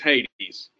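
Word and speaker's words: ᾅδης: A good example that comes up a lot is this word. Anyone know how you pronounce that? Hades? Hades, but yes, it's Hades.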